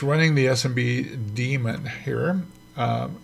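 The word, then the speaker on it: daemon: it's running the SMB demon here um it's spelled D a m o n it's pronounced demon and this is version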